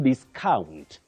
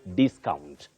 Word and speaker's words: discount: ber not berett then as a verb you say to discount discount the stress is on the second syllable but as a noun you say discount discount with a stress at the onset then we have by